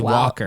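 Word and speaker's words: Walcker: It's spelled funny. It's W A L C K E R. It's Walker.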